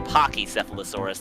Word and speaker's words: Pachycephalosaurus: It could also be Pachycephalosaurus, like the hard K. It could probably go either way.